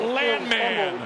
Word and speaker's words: Landman: found ourselves a gem by calling him the Land Man and playing the theme song from Billy Bob Thornton's show, Land Man.